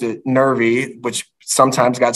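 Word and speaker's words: Nervie: is actually uh nervy Reynolds n-e-r-v-i-e but she pronounced it nervy which sometimes got spelled n-e-r-v-y which eventually started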